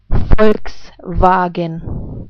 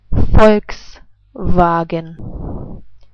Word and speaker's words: Volkswagen: Volkswagen. I say it again. Volkswagen.